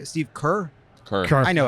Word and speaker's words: Kerr: speech Steve K Steve Kerr I know how to pronounce it third time we corrected you I it's spelled with an E it's fonetic to me but like they gave